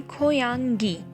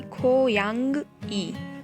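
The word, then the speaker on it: 고양이: Okay, आगे definitely vowels होने की वजह से नीचे का कॉन्सोनेंट ऊपर चला जाएगा, इसलिए वो एनजी ई बन जाएगा, यानी खोयांगी, ना कि खोयांग ई।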